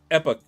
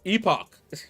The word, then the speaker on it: Epoch: was saying it right it's pronounced Epoch because I've heard people say uh epic and I'm like that's not quite how I thought it was uh pronounced let me see we can hear it I think here Epoch ah Epoch not epic Epoch that's the US Epoch and that's the UK version so the UK says